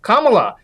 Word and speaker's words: Kamala: Kamala. The word comma, as in comma after a sentence, and add law.